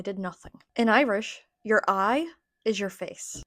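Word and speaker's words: aghaidh: In Irish, your eye is your face. It does not look like the word eye in English, but that is how you pronounce it, and it means face.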